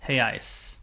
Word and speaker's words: real: re e a i hey I or if it's one unit it's heyi spelled re e a l it looks like Real